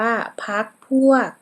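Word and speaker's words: พรรคพวก: เว้น วรรค ข้อ 7 พรรค พวก อ่าน ว่า พร พวก ข้อ 8 อัศจรรย์ อ่าน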